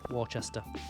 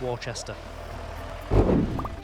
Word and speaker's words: Worcester: How do you pronounce Worcester? Exactly like that, Pew Pew. Worcester. Right. Next time someone asks you about the sauce, it's Worcester.